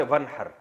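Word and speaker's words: وانحر: हैं अरबी में नहर तो वन असल में था व इन हर पढ़ा जाता है मिला के वन हर तो अलिफ अलिफ साइलेंट हो जाता है वन हर फसल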